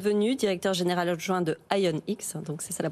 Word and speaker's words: ION-X: Merci beaucoup Thomas Hiriard d'être venu, directeur général adjoint de IONX, donc c'est ça la prononciation.